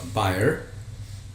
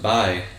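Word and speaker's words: bier: where what is called bear. How to pronounce that word? B-I-E-R? I think it's actually pronounced by. By, okay.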